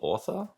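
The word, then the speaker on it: Ortha: you call that crystal author so it's called author but spell it's like o-r-t-h-a oh crystal author okay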